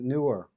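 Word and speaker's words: Neewer: oh this is a newer NW w r they pronounce it newer it's called a newer but it's spelled Neer uh this one doesn't even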